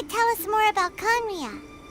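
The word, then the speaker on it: Khaenri'ah: Oh yeah, after we've dealt with the monsters, we should ask her to tell us more about Conria. Henria is how you say it.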